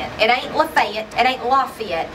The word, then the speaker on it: Lafayette: It ain't Lafayette.